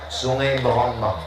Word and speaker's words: Sungai Berombang: Tulisannya Se Berombang, cara membacanya Sungai Berombang.